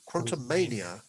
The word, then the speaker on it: Quantumania: Quantumania. It's like WrestleMania.